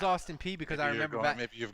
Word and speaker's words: Austin Peay: you explain to me how the the letters p e a y pronounce p i don't know i thought it was pa i thought it was austin p.a so did i so did i maybe it maybe i pronounced it i knew it was austin peay because i remember maybe